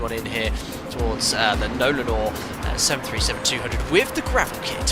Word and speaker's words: Nolinor: Uh, it's pronounced Nolanor. Nolanor.